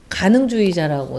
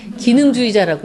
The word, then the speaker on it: 가능주의자: 그런데 그 어두움 속에서도 제가 제목은 가능주의자라고 달았어요. 근데 가능주의자란 말 처음 들어보셨죠? 그러니까 시집을 주면요, 한글 다 읽을 줄 아는 분들인데 기능주의자라고 읽어요.